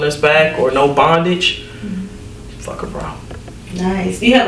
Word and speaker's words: Phuckhbra: So Fuck a Bra is my brand, and it's spelled PHUCKHBRA. So Fuck a Bra.